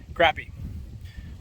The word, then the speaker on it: crappie: Crappie. Crappie, however you want to pronounce it. We call it crappie down here, but this is my target species today.